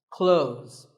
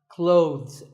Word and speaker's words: clothes: well first of all this word is not cloths when we say clothes the th in the middle can often be silent close but it's not wrong if you say these letters with a the sound clothes that's also correct in some words people